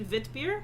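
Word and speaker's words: witbier: they have similar principles it's w-i-t-b-i-e-r so if it's pronounced kind of like german it'd be vit beer yeah that makes sense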